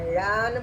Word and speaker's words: ழா: இதை ழான்னு ப்ரொனவுன்ஸ் பண்ணணும். எப்படி ப்ரொனவுன்ஸ் பண்ணணும்? ழா சொல்லுங்க. ழா.